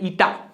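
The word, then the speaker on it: eta: ईटा। Pronounce क्या करेंगे इसको? ईटा। कई लोग इसको नीटा पढ़ते हैं, ये ईटा होता है, नीटा नहीं होता। ईटानगर सुना होगा ना तुमने, वही वाला ईटा, नीटा नहीं।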